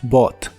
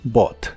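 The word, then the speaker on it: bought: es comprado en inglés es Bot otra vez las letras ug no se pronuncian solo Bot Y recuerda esto En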